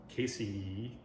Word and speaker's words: casei: Casey. I'm trying to train myself to pronounce the I at the end of the word as an E sound, not an I sound.